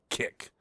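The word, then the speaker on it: Kik: Senate candidate Graham Platner seen in shocking topless towel wearing selfie from hookup app Kick. I'm assuming that's how it's pronounced. It's K I K.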